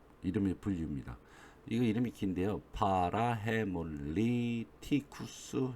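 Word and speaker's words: parahaemolyticus: 파라헤몰리티쿠스 이렇게 발음하시면 됩니다.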